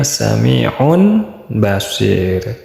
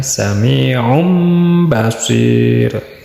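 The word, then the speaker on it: سميع بصير: Asal katanya sami'un basir, kena pelanggaran hukum tajwid yaitu hukum iqlab, jadinya dibacanya sami'um basir.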